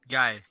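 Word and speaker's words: Gaaei: surname of the right back is spelled g-a-a-e-i gay how do you pronounce that g-a-a-e-i guy okay there you go to English pingers yeah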